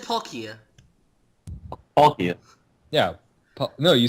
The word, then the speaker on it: Palkia: You said Palkia. I just said Palkia. Palkia. Yeah. No, you said Palkia. Okay, so I put a little strong emphasis on the last syllable.